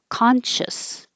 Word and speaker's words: conscious: they make Con shis all of the c-i-o-u-s is just shis or shus conscious conscious this means you're